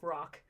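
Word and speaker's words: Roq: like screen printing equipment called Rock. Um Oh, funny. It's spelled R O Q, but I think about it all the time because I'm always thinking about the bird and I'm having to remind myself they're two different things.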